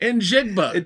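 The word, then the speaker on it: Njigba: In Jigba.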